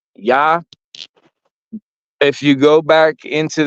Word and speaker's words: Ea: Tablets was spelled EA a lot of people don't pronounce it right it's pronounced yah yah So when you say